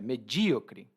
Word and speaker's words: medíocre: E é um pouco pesado, porque quando a gente diz que alguém é medíocre, e aqui a minha pronúncia é medíocre, tá?